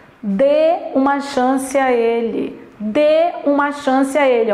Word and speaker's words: dê: ele é um verbo monossílabo tônico e olha pronúncia de uma chance a ele dê uma chance a ele o verbo da se